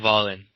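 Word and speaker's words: Wallin: lineal title, against Otto, how do you say his last name, Angel? Go for it. I heard Volin.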